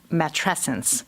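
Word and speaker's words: matrescence: this beautiful world word called match essence which is like adolescence rhymes with adolescence and I love these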